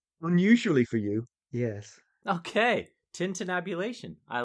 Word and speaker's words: tintinnabulation: And so she calls this one the Tintinnabulation of the Bells. Did I say that right? Unusually for you, yes. Okay. Tintinnabulation.